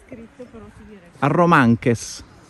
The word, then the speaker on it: Arromanches: Arromanches. Sì, senza la S finale. Arromanche.